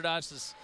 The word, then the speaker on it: Doss: I apologize to Hunter Doss's family or parents and him. Our local news has called him so many different pronunciations of that name, but I promise you it's Hunter Doss.